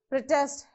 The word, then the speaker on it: protest: speak when you pronounce protest if you want to use that as a noun you have to stress on the first syllable the test okay protest whereas if you